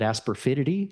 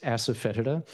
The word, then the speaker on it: asafoetida: was a kid, except he called it asperfidity, which is one of those local pronunciations that kind of indicates people have trouble saying the original Greek word, which is asafoetida.